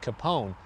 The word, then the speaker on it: Kapaun: Over the course of 5 decades, the pronunciation has changed a bit. The locals call it Kapaun, but that didn't change the effects and impressions he's made on today's forces.